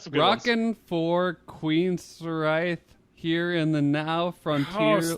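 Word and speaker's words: Queensrÿche: No, You're that's not what pronouncing the name of that band correctly. It's Queensryche.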